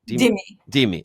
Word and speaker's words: Dhimmi: The Jews become Dhimmi or Thimi. How do you say it? Dhimmi. Okay, Dhimmi. But there's an H after the right. There's okay, Dhimmi.